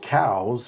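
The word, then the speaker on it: Coues: tail deer KO deer which the proper pronunciation is cows but nobody calls them cow's deer that just doesn't sound cool uh but it was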